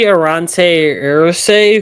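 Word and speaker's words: Aireontae Ersery: Like it's Arante Irsi, something like that. Yeah, so it's going to be Arante Irse, who talking to someone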